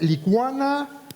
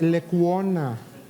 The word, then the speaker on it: Lecuona: que hacer un trámite tengo que escuchar es lituana le cuna licor no es lecuona mi apellido lecuona si a nosotros que